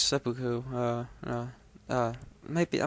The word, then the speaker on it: seppuku: guys seppuku um yeah not sidoku it's seppuku uh uh might be